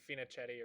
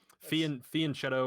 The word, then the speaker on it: fianchetto: I keep thinking you're saying Finochetti or something like that. Fianchetto or fianchetto. It's an Italian word, so I guess it depends on your I was pronunciation.